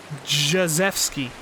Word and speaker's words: Krzyzewski: I think it's pronounced Jazewski, but no one ever tries that.